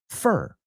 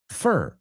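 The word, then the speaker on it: fir: So yes, abeto is F-I-R, F-I-R, y se pronuncia fur. Fur es como F-E-R, ponlo así, fur, like Fernando, fur.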